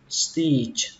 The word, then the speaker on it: stitch: Mũi khâu thì các bạn đọc là stitch. Stitch. Các bạn nhớ là âm chờ cuối.